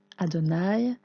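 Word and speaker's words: אֲדֹנָי: israël quels mots suivants vous savez le prononcer adonaï et l'aurait nous encore une fois adonaï herrade écoute israël l'éternel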